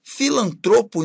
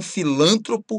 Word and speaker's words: filantropo: Cupido, erudito, filantropo e não filântropo.